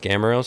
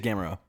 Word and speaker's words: Gamrot: It might be pronounced Gamero, so don't check me on that one. But yeah, we got I think it is Gamero.